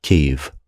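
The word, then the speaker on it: Kyiv: to take Kirsten back Kiev remains defiant zelenski is looking old we've been instructed to pronounce it cave the Russians have cut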